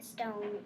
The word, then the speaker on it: stone: And the stone is a VCE word because the O is long and then it's followed by a consonant and the E is silent.